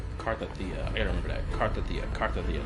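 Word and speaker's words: Cartethyia: Cardathea, that's how you pronounce her name.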